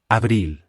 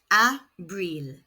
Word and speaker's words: abril: April is Abril. pronounced abril. The letter I makes an E sound in Spanish.